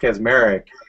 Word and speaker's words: Kaczmarek: I think it's actually pronounced Kaczmarek in the original, what is it, Polish?